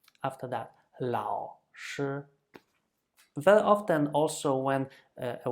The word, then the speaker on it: 老师: Therefore, we usually do with the third tone something that we just use half of it. We just pronounce half of the third tone, meaning I let my voice die and it never recovers.